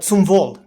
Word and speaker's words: zum Wohl: zum Wohl.